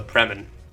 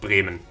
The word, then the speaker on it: Bremen: our revenge on the preman Breman it's pronounced Breman wait does this mean